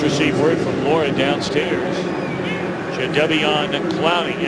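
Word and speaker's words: Jadeveon Clowney: Jade Devian Clowning. And that is the way, by the way, he wants his name pronounced.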